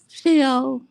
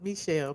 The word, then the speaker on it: Michelle: Shell. Um, Shell, are you there, Shell? It's Michelle, but okay, go ahead. Okay, Michelle, is that how you pronounce it, Shell?